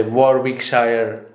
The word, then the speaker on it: Warwickshire: So but, different accent, different pronunciation. So people say Warwickshire, some say Warwickshire.